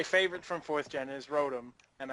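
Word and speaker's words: Rotom: from fourth gen is Rotem and i say it that way because it's motor backwards and you don't pronounce it mater so okay anyway I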